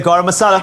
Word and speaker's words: garam masala: garam masala i love the way you say garam masala am i saying it wrong no no no